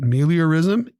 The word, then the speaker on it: meliorism: it is a belief but meliorism three syllables giving you a chance